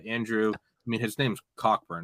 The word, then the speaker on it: Cockburn: I mean, his name's Cockburn. It's pronounced Coburn.